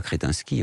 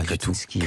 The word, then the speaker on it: Kretinsky: Oui, on ne dit pas Kretinsky, on dit Kretinsky.